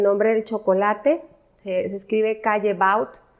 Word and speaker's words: Callebaut: Se escribe Callebaut y se dice Callebaut.